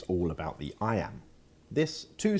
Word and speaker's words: iamb: separation meter is all about sound not spelling I Amba can't amateur may sound technical but there's an